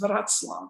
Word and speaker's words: Wrocław: Breslau, which has now been partitioned off to Poland and is known as Wrocław, or it's spelled Wrocław. Okay.